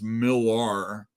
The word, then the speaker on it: Millar: I like to pronounce Millar, since there's a few Mark Millers out there.